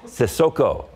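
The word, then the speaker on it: Cissoko: You got to start playing with the Spurs more often so we can pronounce his name more. Sissoko.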